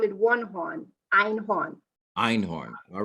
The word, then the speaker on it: Einhorn: And the spelling of it is EINHORN.